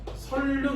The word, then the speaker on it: 선릉: 그래서 위에 거는 설릉 이렇게 발음돼.